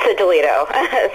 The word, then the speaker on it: Sigillito: Am I pronouncing your name correctly? Very close. It's Sigillito. So. Oh, Sigillito.